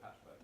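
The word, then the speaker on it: Pachube: Oh, so Pachubi, It's pronounced Patch Bay.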